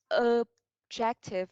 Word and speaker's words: objective: Vậy, okay, với từ này thì mình sẽ giới thiệu em là mình sẽ nhấn vào trọng âm thứ hai. Okay, objective, objective.